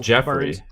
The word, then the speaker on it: Joffrey: you go that's the hard I mean Steve Joffrey Joffrey bar Robert oh no they say they say no they it it's spelled but it's pronounced Jeffrey it's pronounced Jeoffrey onck it's not J J